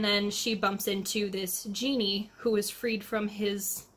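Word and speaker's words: Jinni: The Golem and the genie Aaron Jenny it's pronounced genie and in the narration it's written by Helene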